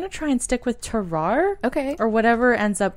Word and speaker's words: Tarrare: I believe it's Tarare, Okay. but I also have heard Tarare or Terrare. Terrare. But I'm going to try and stick with Tarare.